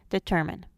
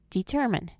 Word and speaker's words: determine: Maternal, paternal, determine. The first and last syllables schwa in maternal and paternal, but the first syllable retains its long sound in determine.